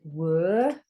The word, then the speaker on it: were: This is were. You can hear this. Can't hear this quiet E on the end.